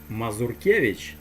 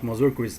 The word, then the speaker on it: Mazurkiewicz: now we have paul mazurkiewicz we all know that his last name is spelt so not mozarcus as americans say there you go that's